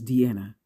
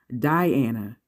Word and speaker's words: Deanna: My name is Deanna. 3 syllables, 6 letters. It rhymes with Vienna or Sienna. I get called everything from Deanna, Diana, and I'm sorry, what's your name again?